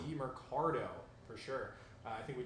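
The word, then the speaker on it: Demercado: Amari DiMercado. DiMercado, for sure.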